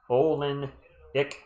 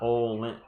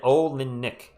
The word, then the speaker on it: Olynyk: I see Zach I want to call him Mister Olinick, not Olin Wait. It's It's three syllables. Olin Olinick, I believe.